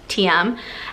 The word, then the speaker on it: TIEM: spin shoes so these are from the brand TM but it's spelled T I am pronounced TM and these are just they're black cycling shoes